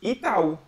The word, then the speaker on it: Itaú: So the pronunciation is Itaú.